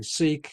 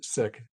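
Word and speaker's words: Sikh: that because i think some people are used to hearing seek and in fact it's sick so give us that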